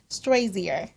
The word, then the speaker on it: Strozier: Strozier. That's perfect. Is it? Do most people mess that up? It's Strozier, like Crozier High School. Strozier or Strozier.